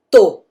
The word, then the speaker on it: tô: Esse tô, obviamente, a gente vai pôr acento circunflexo. Então, é o caso em que eu não vou usar a pronúncia U, né? Eu vou usar a pronúncia O, ok?